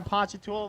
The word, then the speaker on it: Ponchatoula: It's actually Bosch at a Ponchatoula, Louisiana.